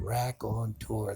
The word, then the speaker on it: raconteur: Of course, that's a pretty big word, raconteur. That's three syllables, so it's much bigger than I'm used to hearing or understanding.